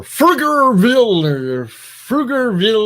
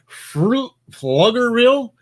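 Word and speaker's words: Pflugerville: For Frugerville or P is silent, so it's Fluggerville.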